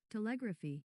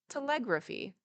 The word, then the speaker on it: telegraphy: Telegraphy. Okay, that's right. Telegraphy.